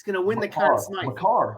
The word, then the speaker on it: Makar: How about Kale Maker cards? He's gonna win. He's gonna win the Conn Smythe. Makar. You gotta pronounce it right.